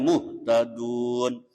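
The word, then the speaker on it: مُهْتَدُونَ: Cara bacanya muhtadun, muhtadun.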